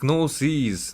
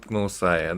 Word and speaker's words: Gnosis: I mean, okay, so it's Gnosis, not Gnosai.